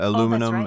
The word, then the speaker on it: aluminum: Aluminium, uh aluminum, aluminium.